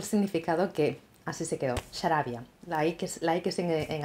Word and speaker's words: Xarabia: llama Sarabia, es una palabra asturiana muy prestosa.